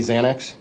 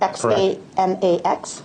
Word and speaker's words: Xanax: But in your work as a detective, especially in the drug field, you know that people commonly think it's really spelled with a Z.